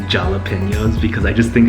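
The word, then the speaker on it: jalapeño: So in my last video, I was joking around saying jalapenos because I just think it's fun to say. I know it's pronounced jalapeno.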